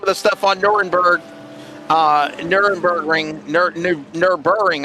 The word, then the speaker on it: Nürburgring: Nürburgring, I guess is how they say it. Nürburgring.